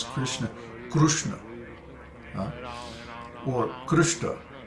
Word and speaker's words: Krishna: is there's no Krishna there's no I sound in Krishna it's Krishna and when